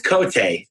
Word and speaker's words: Cote: It's spelled Cote, but it's Cote.